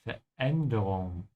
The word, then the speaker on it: Veränderung: Make sure to pay attention to the umlaut. Veränderung. Veränderung. Wait, say it again please. Veränderung. Veränderung. Yeah, there's a tiny bit of hiccup here after ver.